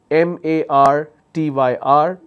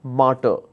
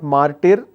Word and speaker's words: martyr: M-A-R-T-Y-R. The pronunciation is martyr. It's not martyr, it's martyr.